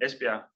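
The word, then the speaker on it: Esbjerg: is our campus in in espia which is the Danish pronunciation well almost 20 000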